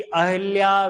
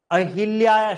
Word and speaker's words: अहल्या: और इंदौर में आपको पता हो तो देवी अहिल्या विश्वविद्यालय इंदौर में यूनिवर्सिटी है। अहिल्या शब्द नहीं होता, अहल्या होता है। क्या शब्द होता है, अहल्या, लेकिन हम अहिल्या अहिल्या कर लेते हैं, नहीं, अहल्या।